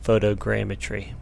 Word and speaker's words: photogrammetry: the way up and saying it wrong for the whole video there's an extra R in there he's crammed a trained eye geometry so photogrammetry the only way I